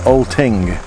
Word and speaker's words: Oltingue: we're here at another Freire at the best pronunciation I can do is all ting yes ki ng you e Oh oh well